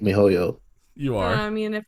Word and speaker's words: miHoYo: I hope I'm saying it right, MiHoYo. You are. I mean, if you're Yeah. not, none of us are gonna correct you. So MiHoYo.